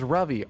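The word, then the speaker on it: Ravi: to them and I say my name is rvy r a v i and they're like bobin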